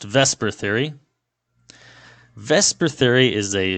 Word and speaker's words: VSEPR: geometry of a molecule conveniently this is where Vesper theory comes in so it looks more like the zipper but it is pronounced Vesper Theory Vesper Theory is a valence it is